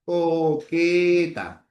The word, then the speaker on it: coqueta: Por ejemplo, si tienes la palabra coqueta, tienes una C y una Q, pero ahí la pronunciación es la misma, ¿no? La transcripción sería así. Coqueta, ¿ya? Coqueta. Suenan igual, ¿no? Letras diferentes tienen un solo sonido.